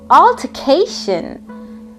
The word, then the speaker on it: altercation: pronouncing the are because we are learning the British pronunciation so it will be altercation so it's a noun